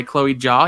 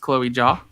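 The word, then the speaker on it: Chloé Zhao: be like it is no mad land by chloe jaw yes it's pronounced chloe jaw um i would love it if especially as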